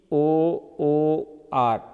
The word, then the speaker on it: poor: But this double o, no, this is pronounced u. How it is pronounced? U, u and then a. So u is one vowel and a is next. So this is a combination of u, combination of u. So the word poor is pronounced p, u, a and r.